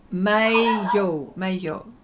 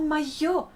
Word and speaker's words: maillot: Maillot. You got the bain right. Okay. Maillot. Oh, maillot.